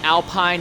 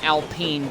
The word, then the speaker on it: Alpine: I mean, I've said Alpine and Alpine together in the same broadcast, so Alpine. I'm sure I have absolutely pissed off a lot of Frenchmen before.